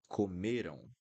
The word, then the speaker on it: comeram: So here, eles comeram. Comeram. Comeram. Not comeram. Comeram. Not this sound.